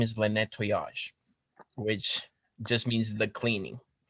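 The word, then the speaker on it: Le Nettoyage: how you pronounce it because it is a french name um so how do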